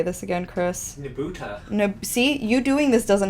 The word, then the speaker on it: Nebuta: nebu how do you say this again Chris nebuta see you doing this doesn't help me what did I tell you I told you it doesn't help anyways there is a nebuta festival in amori and these were the floats